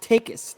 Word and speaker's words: Takes: gonna correct you though it's pronounced take us not takes oh take us i'm